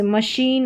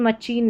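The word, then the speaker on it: machine: S नहीं है इसमें, इस CH को हम श पढ़ेंगे, जैसे यहाँ पर है, यहाँ पर है, श पढ़ेंगे CH का, यहाँ पर इस पैटर्न का उच्चारण, जैसे मशीन, मचीन नहीं।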